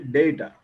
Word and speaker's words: data: In India, we say data, it is actually data.